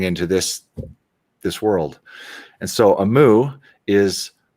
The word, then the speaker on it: Aamu: And so Amu is it's spelled AAMU, and it's Finnish, and it means the morning time, like dawn, Oh, the time of day, morning time.